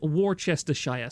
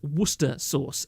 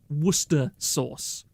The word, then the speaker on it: Worcester: sister sauce yes um the plebians call it War Chester Shire SCE uh those kind of people should be killed on site you should hang them it is Worcester Source okay true sons of